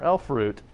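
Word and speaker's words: elfroot: again Oh some more elf root rhymes with loot okay go back to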